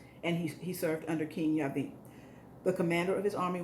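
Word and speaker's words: Jabin: into the hands of jabbing jabbing but it's it's pronounced in the hebrew yavin um king of canaan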